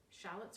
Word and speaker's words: shallot: they're the same thing shallots are the same thing too but the British pronounced them like the Lady of Shalott we're Americans place the emphasis on the first syllable shallot fruits and vegetables